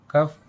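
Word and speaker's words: cough: इन words में ओ यू के बाद वर्ड के लास्ट में जी एच आया है और हमने यहाँ पर जी एच का उच्चारण किया है। लेकिन जी एच का जो उच्चारण किया है वो फा लेटर से किया है।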